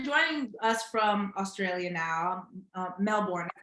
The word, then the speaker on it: Melbourne: So first, you're joining us from Australia now, Melbourne. That's how you pronounce it, or is it Melbourne?